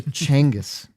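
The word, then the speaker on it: Genghis: If I said like if I The way we say it is Gangghask Khan. No, it's Jenis. It's actually Changis. Did you know that? Chang. Yes. I I listened to a podcast this week about him and they said that's the right way to say it.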